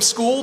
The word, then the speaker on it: Scull: Let's turn to the fighters and let's start to my left, William School, the reigning IBF 175 lb champion. And just for for clarity, William, it's school, right?